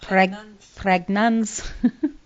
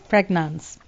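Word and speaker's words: Prägnanz: It is pronounced Pragnans. Pragnans.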